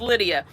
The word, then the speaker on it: Lydia: It is pronounced Lydia. I let the spelling like throw me off, I think.